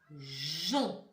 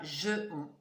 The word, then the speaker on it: geon: Voilà, ça c'est jon. Et ce n'est pas je-on. Jon.